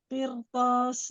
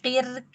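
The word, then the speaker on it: قرطاس: Kalau Umi bacanya qir gitu tipis. Umi langsung naik. Qir to. Qirtas.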